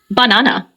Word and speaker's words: banana: For instance, in the word banana, the stress is on the second syllable, banana. In contrast, the word record